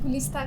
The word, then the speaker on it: Gulista: Gulista. क्या? My name is Gulista. गुलदस्ता? Gulista. Huh? Gulista. गुलदाउदी? Gulista. She wants her name to be pronounced correctly, yes or no?